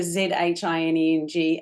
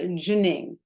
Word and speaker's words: Zhineng: We pronounce Zhineng, the Z-H-I-N-E-N-G, as Zhi. So the Z-H-I is actually Zhi. So it's like Zhineng.